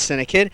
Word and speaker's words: CINEKYD: Now you can spell it c i ne ky dd. That's syndic.